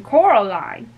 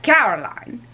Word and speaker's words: Coraline: know they kept calling they kept saying coral line not caroline not caroline at all he picked up a